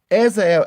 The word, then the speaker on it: Azrael: Okay, how do you spell it? A Z R A. A E L. Okay, what does he say? Azrael.